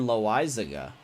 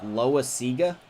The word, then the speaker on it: Loizaga: Well, see, I thought it was Jonathan Loizaga. I thought that's how you were. I thought it was supposed to be pronounced. Thomas dropped some knowledge on me yesterday saying that's not right. It's like Loizaga.